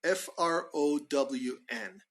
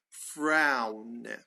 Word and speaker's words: frown: a frown a frown f r o w n I'll post it up SAR but it's pronounced frown frown there's a w in there it's not exactly you